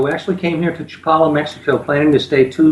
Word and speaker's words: Chapala: and where is japan is that how you pronounce it properly that's correct chapala we're about uh 40 minutes south of guadalajara